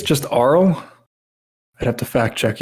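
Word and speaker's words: Arle: NAA from puy puyo I think it's just ARL I have to fact check you on there horse cat did not use the pronunciation field in the character editor well that's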